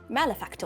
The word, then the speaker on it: malefactor: Malefactor.